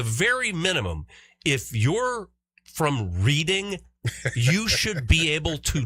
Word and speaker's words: Reading: The Reading Football Club in England is recalling merchandise that has the name of the club misspelled.